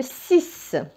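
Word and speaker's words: six: وكلمه 6 تنتهي بالاكس، وهذا الاكس ينطق س هنا.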